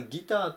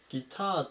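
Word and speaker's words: guitar: 207 番ギターギターアクセント注意ですね日本人がギターって言うと最初の方を強く読むようなイメージになるんですけども英語はギターっていう風に後ろを強く読みますギターを引くっ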